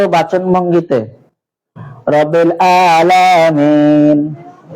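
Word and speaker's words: العالمين: এটা তো বর্ণমালা চেঞ্জ এমন হলো, কিন্তু বর্ণমালার উচ্চারণগত বাচন ভঙ্গিতে রব্বিল আলামিন। আলামিন আইনের জায়গায় যদি হামজা পড়ে আলামিন বলে না, তাহলে অর্থ চেঞ্জ। আলামিন মানে বিশ্ব নিয়ন্ত্রা, আর আলামিন অর্থ হচ্ছে বিশ্বাসী।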